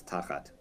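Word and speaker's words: תחת: It's a teeny one, which is, so when you have the double patach twice, like under that first word, the first one gets accented, so it's tachat. Tachat.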